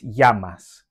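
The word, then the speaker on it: llamas: the Double L in yamas the Double L in Spanish is pronounced as a y so it's yasas and here are three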